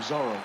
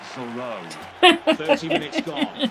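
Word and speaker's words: Zoreaux: a solid save from Zorro yeah Chris it's pronounced Soul Road Richmond with an opportunity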